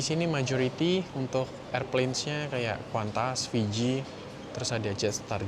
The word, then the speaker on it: Qantas: terbang lagi naik kuantas meskipun tulisannya kantas tapi bacanya kuantas ya kuantas gitu guys.